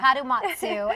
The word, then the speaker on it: Kadomatsu: Kadomatsu.